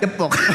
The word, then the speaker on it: Depok: Daerah Depok, bukan Ya kan ada ejaan EYD, ada E, ada E. Oh, yang benar bacanya? Jadi bacanya? Depok.